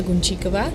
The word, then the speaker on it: Gunčíková: you're going to perform my name is Concha Cova so it's hard to pronounce it indeed I perform a song that's